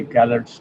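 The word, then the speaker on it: Calot: natural question sometimes a gallows triangle gallows triangle is a c-a-l-o-t apostrophe s d is silent you can say gallard's triangle bit of scallops try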